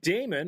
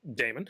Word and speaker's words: Daemon: They acquired Note, and they also signed Damon or Demon. I never know how if in computer terms. In computer terms, it's Demon. It's spelt Damon. The Daemon.